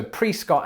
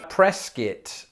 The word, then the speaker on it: Prescott: i'm going to go with pre scott so pre scott arizona is definitely how you pronounce it i am confident 100 and now let's see how wrong i am press it presskit i want to go to presskit and order